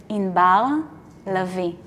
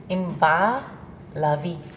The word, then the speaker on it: Inbar Lavi: and I love it the way you would really pronounce my name is you don't even want to go there wait yes okay you're ready yes in Bao lovey in BA lovey you see you got